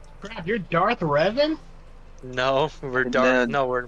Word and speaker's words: Revan: by the way uh no no no it's pronounced revon CRA you're Darth Revan no we're Darth no we're we're revon no